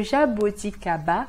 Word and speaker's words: jaboticaba: Le jaboticaba, com A bem forte, como se tivesse um acento, não esquece.